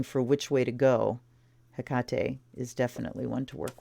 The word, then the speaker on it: Hecate: a lot of people saying Hecate but the pronunciation is Hakata and there she is with her staff and